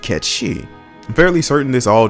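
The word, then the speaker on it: Cait Sith: a little disingenuous so why is it that we're saying Kate Sith instead of catchy I'm fairly certain this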